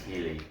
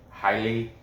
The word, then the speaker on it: Heili: of china uh but he spells his first name h-e-i-l-i i think that's healy highly highly alatang helia tank i know the last is a la tang just but phonetically right but uh casey kenny